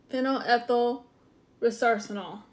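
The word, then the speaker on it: phenylethyl resorcinol: So we're going to kind of do this together because my pronunciation of this is a little bit. I'm working on it. Okay, so it is phenol ethyl resarcinol.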